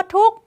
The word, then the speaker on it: ทุกข์: เป็น ตัว การันต์ ค่ะ คำ ว่า ทุกข์ ไม่ ออก เสียง ข ไข่ อ่าน แค่ ท อุ ก ทุกข์ ข ไข่ เป็น ตัว การันต์ ค่ะ คำ ว่า วัย